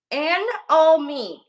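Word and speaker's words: anomie: Anomaly. Well, no, cause that don't sound anomaly. Nope, that put an extra N at the end. Anomy.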